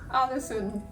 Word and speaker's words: Ålesund: how do you pronounce Alison it's originally a double A and then an a with a circle above that's all all the yes